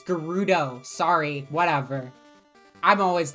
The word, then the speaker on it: Gerudo: you know what fake why do you say Gyarados right it's Gerudo sorry whatever I'm always